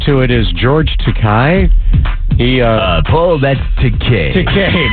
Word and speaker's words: Takei: Takei. My apologies. Rhymes with gay, George Takei.